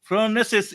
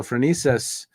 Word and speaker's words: Phronesis: So Phronesis, and it's pronounced differently other places in the world, it's Aristotle, which meant practical Okay.